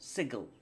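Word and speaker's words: Sigil: how it looks to read but it is pronounced sigle fact and that's the end of it and I know you can't teleport to sigle you have to go through one of the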